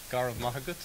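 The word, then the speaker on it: Go raibh maith agat: Garv Mahagut. Oh my goodness, Garavaka Kuch.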